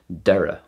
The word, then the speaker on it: deireadh: thosaigh tháinig & thart the closest we have is a D sound as in the Irish word Deireadh which means end deireadh